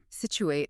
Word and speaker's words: Scituate: We're talking about Situate. Situate.